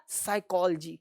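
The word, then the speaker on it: psychology: ये पी साइकोलॉजी नहीं है, पी को साइलेंट करो।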